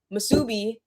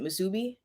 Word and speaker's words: musubi: make misubi i think it's that's how you pronounce it musubi i want to make